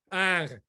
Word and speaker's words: Ingres: Ingres.